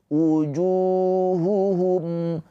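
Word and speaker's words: وجوههم: Ju panjang dua harakat. Ini pemanjangnya itu wau sukun. Wau sukun sebelumnya harakatnya domah. Ini mad thobi'i. Junya dibaca panjang dua harakat. Di sini ada mim sukun bertemu selain mim dan ba. Ini izhar syafawi. Dibaca dengan jelas mimnya.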